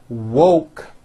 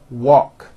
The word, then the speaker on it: woke: are woke and won't most foreign speakers pronounce these two words instead of saying woke when they say it it sounds like walk so instead of saying